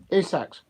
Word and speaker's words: Isak: what because we're in the transfer window Alexander ISAC I think quite a few Arsenal fans would like to um have Alexandra ISAC isach I should pronounce his properly name properly and I'm thinking